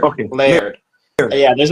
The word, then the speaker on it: Laird: Is the name Laird, or how do you pronounce the last name? Sure. It's Laird. Okay. Laird.